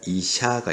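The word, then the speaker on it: 医者: 자, 여러분들 여기 보시면 의사라는 말 두 박자 이샤가 있죠. 발음해 볼까요? 이샤, 이샤. 자, 그 다음에 세 박자로 되어 있는 거 이시야, 이시야 이렇게 되어 있죠.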